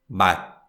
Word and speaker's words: 맛: But in Korean, the consonant sound stops and doesn't release. And so therefore we call it unreleased 디귿 sound.